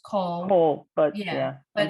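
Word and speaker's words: כל: And the kals are often going to be pronounced kol.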